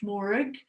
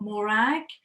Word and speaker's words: Morag: Morag, yeah, miss, I'm here, but actually my name is pronounced Morag, not Morag.